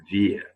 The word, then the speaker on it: wir: W, we pronounce it in German language like letter V. Okay, that's why I'm reading wir, not wir. No, wir.